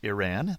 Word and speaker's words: Iran: country I kept calling Iran he says it's pronounced I as in Indiana I and ran as in run so it's Iran thanks kazim for that